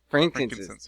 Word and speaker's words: frankincense: It's Frank and then inces. Oh, frankincense. Yes, frankincense.